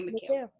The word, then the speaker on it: Mikhail: Is it Mikhail? Yes, ma'am. Okay, Mikhail.